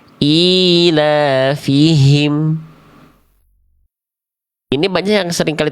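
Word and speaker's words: إيلافهم: Contoh, ilafihim. Hi-nya ada, tapi tidak jelas. Ilafihim. Harusnya ilafihim.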